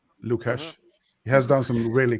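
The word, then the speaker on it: LukHash: on YouTube it it it's spelled l-u-k and then hash lucash he has done some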